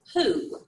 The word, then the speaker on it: who: Well, you wouldn't blend it that way because this word is who. Who, okay? So it's almost like a who, like a hoot owl, hooing.